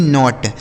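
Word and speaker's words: knot: जहां पर भी के साथ एन होगा वहां के साइलेंट होगा। यहां पर भी देखिए के साथ एन है तो इसे हम कन नॉट नहीं पढ़ेंगे बल्कि नॉट के एन ओ टी नॉट इस नॉट का मतलब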